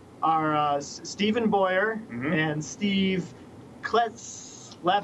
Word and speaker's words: Kleisath: And our guests tonight are Stephen Boyer and Steve Kleisath. How do you say it? I'm sorry. You just told us 2 minutes Kleisath. Ago. Kleisath. Kleisath.